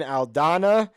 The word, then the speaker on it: Aldana: the meat and potatoes Amanda Nunes versus Irene aldana I pronounced it right that time that's the current